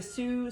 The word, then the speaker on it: Sioux: an amazing book it's the sue spelled like the indigenous name s-i-o-u-x chef's indigenous cookbook and it's actually